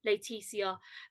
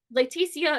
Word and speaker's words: Laeticia: as a nickname is I'm you know letisia and letisia is m is it's like a French pronunciation of my actual name uh say my legal